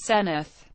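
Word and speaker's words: Senedd: Wales debating chamber is called the Senate pronounced senith an academic Senate is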